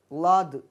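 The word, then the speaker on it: ض: லாது லாது லாது உச்சரிக்கின்ற போது இந்த நாவை மடக்கி கடைவாய்ப்பல் ஓரமாக வைத்து உச்சரிக்க வேண்டும். லாது லாது அரபியிலே உள்ள சிறப்பு எழுத்து இந்த லாது தான்.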